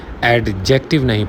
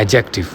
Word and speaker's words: adjective: उसे वक्त आप इसका दीप प्रोनाउंस नहीं करते दी इसका साइलेंट होता है यानी जब आपने इस शब्द को प्रोनाउंस करना है तो आपने ए के बाद के को प्रोनाउंस करने हैं दी को साइलेंट कर देना है लाइक आपने एडजेक्टिव पढ़ना